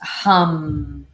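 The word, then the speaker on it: ham: H hum the sound vibration is hum h a m but it's pronounced hum so let's do three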